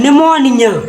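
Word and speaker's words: pneumonia: कार्य है AP silent देखो पी एच ई यू एम ओ एन आई एन ए जो का लिखा है निमोनिया निमोनिया का पढ़ रही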